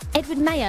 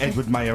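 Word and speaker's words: Edward Maya: Edward Mayer. Is that how you say it? Yeah, I think that's how you say it. It's like Edward Mayer as in the calendar.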